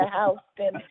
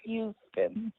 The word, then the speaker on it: Houston: That's how they say it in Texas. I'm from New Jersey, so I'm used to Houston as well. But in Texas, it's Houston. I got you.